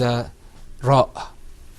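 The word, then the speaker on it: ر: This letter, which you can see on your screen also, is ra.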